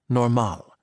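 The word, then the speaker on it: normaal: state of being that the Dutch referred to as normal, with the accent on the second syllable, a different thing altogether from the English normal.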